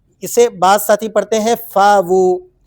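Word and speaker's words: فَأْوُۥٓا: بعض ساتھی پڑھتے ہیں فاوو۔ ایک بات یاد رکھیں، حمزہ جب بھی کسی حرف کے ساتھ ملتا ہے تو وہ جھٹکے کے ساتھ پڑھا جاتا ہے۔ اب اس کو کیسے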